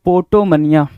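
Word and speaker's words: potomania: अगला है 11 number 11 number कह रहा पोटो मनिया पी ओ टी ओ एम ए ए आई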